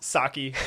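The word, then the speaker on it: Psaki: cannot pronounce her name it's pronounced sake but i i say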